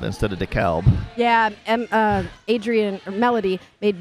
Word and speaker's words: DeKalb: Because I got in trouble for saying DeKalb instead of DeKalb.